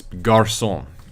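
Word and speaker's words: garçon: first now you know wait yeah okay it's Garcon gosh I talked about this in the first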